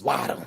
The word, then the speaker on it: Waddle: Jalen Waddle, depending on how you pronounce it. That's Waddle.